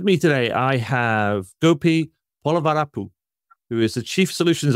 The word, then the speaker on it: Polavarapu: So just to give a little bit about me, so my name is Gopi Polavarapu.